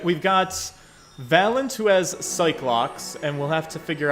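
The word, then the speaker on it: Psyche-Lock: tell me also that they are probably pronounced psyche locks i don't like the way that sounds though so we're gonna call them cyclops um it just rolls off the tongue better to me all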